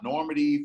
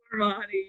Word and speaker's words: Normani: Mulatto, and you saw Normandy from Fifth One. Did I pronounce it wrong? Normani, you said Normani.